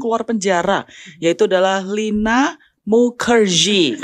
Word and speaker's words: Mukherjee: penjara yaitu adalah Lina Mukerji kata bacanya harus Mukerji artinya orang apa salah